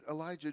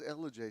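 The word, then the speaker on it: Ellijay: She said, "Elijah, Georgia." I said, "This is LJ."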